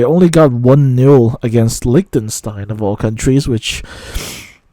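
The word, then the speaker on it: Liechtenstein: getting 1 nil against Likenstein. Um, you know, some people pronounce it Lichenstein or Lichenstein, but um I say Likenstein. Um, it might be a little bit dated. I I'm not really sure, but uh yeah, they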